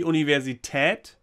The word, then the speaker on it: Universität: So it should be Universität with the German Umlaut, these Ü and Ö. You know, these O with a dot and A with a dot and stuff like that. Universität has one of these in them, in it.